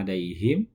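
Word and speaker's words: عليهم: Ainnya itu di tengah tenggorokan, tidak boleh alaihim ya. Ya-nya itu dibaca alaihim, bukan alaihim. Haknya itu di pangkal tenggorokan, tidak boleh alaihim, tidak boleh dibaca ha ya.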